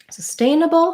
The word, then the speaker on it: sustainable: was requested sustained full sustainable has second syllable stress so my stain syllable is going to be long and have the clear vowel and then i'll have my reduced bubble at the end um again we'll start